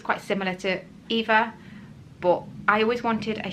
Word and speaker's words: Eva: Even when Eva gets called Ava now, it's really difficult and awkward to say, oh, it's not Ava, it's Eva.